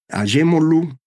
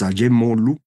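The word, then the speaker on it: Acemoğlu: instituciones y la economía son aemol así se pronuncia usted lo va a leer aogu es Turco el nombre correcto es a molu Robinson y Johnson ellos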